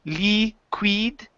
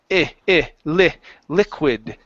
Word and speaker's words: liquid: Right here, give me a short I sound. Instead of saying liquid, it's liquid.